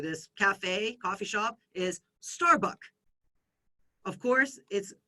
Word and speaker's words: Starbucks: In Thailand, this restaurant or this cafe, coffee shop is Starbucks. Of course, we're not pronouncing that final consonant S.